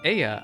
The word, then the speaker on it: Ea: When the vibration of vocal folds was still required to convey our thoughts and intention, Aya, I believe, was the pronunciation used when referring to our people.